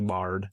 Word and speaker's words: Brohard: like broad or although they say something silent and it's the R is silent. It's actually bard.